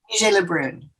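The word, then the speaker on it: Vigée Le Brun: How do you pronounce her last name? Vigée-Le Brun.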